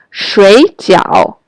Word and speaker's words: 水饺: These syllables have the fourth tone, means to sleep, but 水饺 have the third tone, means boiled dumplings.